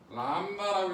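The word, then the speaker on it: λ: 저거 그리스 문자입니다. 뭐라 읽어요? 람다라고 있습니다. 뭐라 읽는다? 람다라고 읽어줬다고 쓰고 파장을 나타내는 기호라고.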